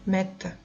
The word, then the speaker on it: mettent: Esta ENT no se pronuncia, mettent.